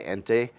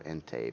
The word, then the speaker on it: Ente: I wasn't sure if it was Ent or Ente, but Ente is the way it should be said.